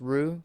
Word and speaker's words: roux: off by creating a roux spelled r-o-u-x but pronounce rue because french people be talking all fancy-like to create a roux